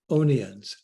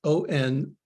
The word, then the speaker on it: Onians: Richard Onions. Oh, I think that's how he pronounces it. Onians. It's like onions, only with an A.